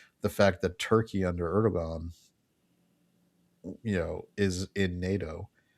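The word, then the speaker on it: Erdoğan: We, you know, take we we let Erdog Erdogan, I think that's how it's pronounced. Erdogan.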